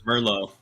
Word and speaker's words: Merlot: Or I think it's Merlot. Is that how you say it? Merlot, totally yeah. Merlot. It's spelled Merlot.